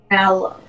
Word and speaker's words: Mallow: She's pronouncing more of a mal instead of a mel. Because it's marshmallow. Like mallow. Mallow.